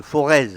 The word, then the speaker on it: Forez: Auvergne, on dit le Forez. Ah oui, c'est parce que voilà. j'ai prononcé la différence, le Z. Voilà, le Z ne se prononce pas.